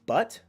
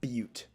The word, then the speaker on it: Butte: Mike, is it pronounced butt or butte? Like beauty.